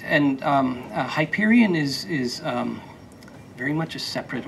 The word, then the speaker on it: Hyperion: Speaking of your publisher, Disney Hyper, how do you pronounce? Hyperion.